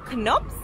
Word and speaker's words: Knoops: so guys i just came out of canups i've just been told that that's how you say it so it's right behind